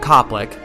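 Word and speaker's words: Koplick: Matt Copick. Copic is not spelled the usual way. It's spelled K O P L I C K, but it's okay.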